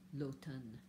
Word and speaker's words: l'automne: And note that you don't pronounce the M. L'automne.